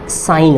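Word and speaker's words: sign: आपका साइलेंट होगा, क्योंकि एन से पहले जी आ रहा है इसलिए। तो ये एस आई जी एन क्या हो जाएगा, ये आपका साइन हो जाएगा, साइन मतलब चिन्ह होता है।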